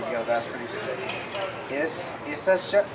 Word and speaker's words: Issachar: Issachar? Issachar.